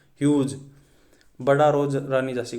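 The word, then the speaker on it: Hugh: वैसे तो ये प्रोनाउंस किया जाता है ह्यूग, बट आपको उसको ऐसे सोचना है कि ह्यूज।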